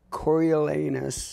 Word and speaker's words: Coriolanus: terrified to say it I'm gonna try it Cory elanus Bravo exactly right and it's not hard to pronounce The Invisible Woman which is a really